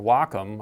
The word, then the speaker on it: Wacom: This is also where a Wacom tablet, or a Wacom, I should say, I should pronounce it correctly, a Wacom tablet comes in very